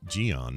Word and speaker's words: Gian: Oh, by the way, I guess his name is pronounced Gian, not John, right? We have that right? Yes. Okay, Gian. So like yeah. G-I-A-N. Gian.